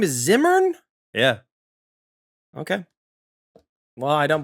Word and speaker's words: Zimmern: You pronounce his name Zimmern. It's actually Zimmern. It's Zimmern, yeah.